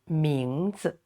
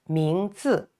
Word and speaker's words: 名字: Name is one word and 名字 2 characters, and also this 字 no tone, so it's not stressed. So we pronounce it 名字, not 名字. No, that's too heavy. It doesn't sound right.